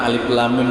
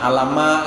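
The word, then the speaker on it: الم: Cara membacanya kan alif lam mim tuh jangan alama ya lah.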